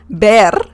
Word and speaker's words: ver: v or a b just pronounce it as the letter b as in bell okay now let's learn the differences the first thing you need to know about the ver the verb ber sorry is that you